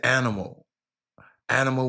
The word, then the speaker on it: Anima: She said animal without the L. Anna Anima.